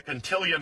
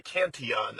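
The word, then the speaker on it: Cantillon: I'm not sure if it's the Contilion effect or the Canton effect. I've heard people say it both ways.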